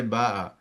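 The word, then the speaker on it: باع: Same thing, baya'a, you'll not say baya'a because it is not being pronounced correctly. If you just try to pronounce it, it will pronounce very awkwardly. So you will say ba'a.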